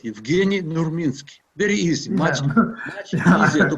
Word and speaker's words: Evgeni Nurminski: And for Juan, the name should be pronounced like that, Evgeni Nurminski.